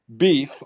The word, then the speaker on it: B33F: We have new cult member Beef, although his name is spelled B33F.